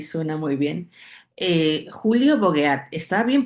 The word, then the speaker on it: Bogeat: Julio Bogueat, ¿está bien pronunciado tu apellido? Bogeat. Bogeat. Okay. Sí, sí, pero bueno, estoy acostumbrado. Es un apellido francés y entonces se puede se puede desvirtuar.